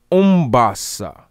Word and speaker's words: umbasa: second another form of that word basa is umbassa spelled u-m-b-a-s-a umbasa now this word ombasa again means to